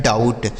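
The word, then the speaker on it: doubt: ओ और यू का उच्चारण औ हो गया। ठीक है? अब भी यहां साइलेंट है। टी से हो गया ट। यहां लिखा है डाउट।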